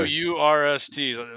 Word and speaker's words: Wurst: W-U-R-S-T. Wurst is how they say it in German.